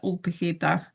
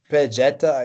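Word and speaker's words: Ol Pejeta: I'm pronouncing this in Spanish, but maybe the Kenyan way of pronouncing is different. You can pronounce it however you want. I think people here say Old Pejeta, or some say Pejeta.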